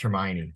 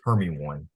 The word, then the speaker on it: Hermione: the exact context but he pronounced Hermione Herm one and he got so much for it oh so much he was like well what about hermy one I'm like all right